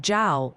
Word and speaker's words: Jal: Oh, and Professor Chat wants you to know it's pronounced Pearland, Texas, like the fruit, and Jal, New Mexico, rhymes with pal.